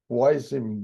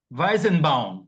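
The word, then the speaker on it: Weizenbaum: professor gianoto é um alemão é o Joseph wienen por favor me corrija se eu pronuncie errado J out ah weisen bowen sorry weisen Bau weisen B thank you ele professor ele era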